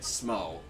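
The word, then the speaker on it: Smough: and smo no smo there's kind of a debate as to how it's pronounced but most people agree that smo i think that's the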